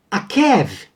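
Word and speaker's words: עָקֵב: E aí nós vamos ver que a palavra enganar, o verbo enganar, era pronunciado da maneira akav, tá? Com a vogal A. Já o substantivo calcanhar leria-se akev, E o nome de Jacó lê-se Yaakov, tá ok?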